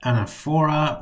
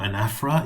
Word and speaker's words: Anaphora: Today we are looking at Anaphora or Anaphora, if you want to pronounce it correctly, Asyndeton and Epistrophe.